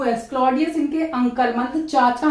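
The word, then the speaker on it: Claudius: डी गटूड इनकी mother है और ये है क्लॉडियस सी एल ए यू डी आई यू एस क्लॉडियस इनके अंकल मतलब चाचा है सभी चाचा हैं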